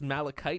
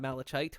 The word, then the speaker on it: malachite: Oh, it's pronounced Malachite, not Malachite.